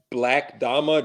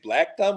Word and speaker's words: 6LACKDAMA: then you can follow me on Twitter it's pronounced black dhama just for everyone just in case because you know I had that come up do you pronounce it black dumb or you pronounce it sixl yeah I'm like